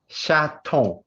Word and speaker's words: chaton: Could you pronounce the word again, please? Of course. Chaton.